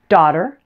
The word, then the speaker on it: daughter: then you're in luck daughter and water rhyme the only difference is the first sound the D and otter and the W and water other than that